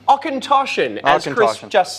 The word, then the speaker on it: Auchentoshan: That's pronounced, go on. Oh, what is this? I'm being a real pain. This is the Ostenschwarschen. Auchentoshan, as Chris just said.